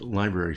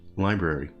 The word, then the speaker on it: LBRY: and I'm here to talk about LaBrie it's pronounced library sera but it's spelled lbr why I know but it's pronounced library library it is anyway Tomas is here with